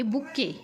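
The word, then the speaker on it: bouquet: आहे बघा फुलांचा गुच्छ आणि ह्यामध्ये जे काही सायलेंट लेटर आहे ते आहे ती काय आहे बघा टी लक्षात आलं का चला लगेच काय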